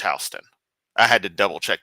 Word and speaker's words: Houston Street: It's pronounced Houston.